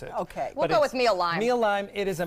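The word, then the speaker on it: Mealime: So the first one, I believe it's called Meal Lime or Meal Lime. It's mealtime without the T in the middle. So it's the only difficult thing is how to pronounce it. Okay. We'll go with Meal Lime.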